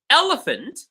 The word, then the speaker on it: elephant: Elephant, elephant, it's the A.